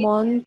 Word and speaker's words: mon: Mon, ton, son, not, what, le. Okay, so this is mo. N नहीं pronounce करना. ठीक है. No sound of N.